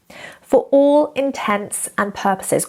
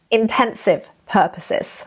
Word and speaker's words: for all intents and purposes: For all intents and purposes, or to all intents and purposes, not intensive purposes, okay?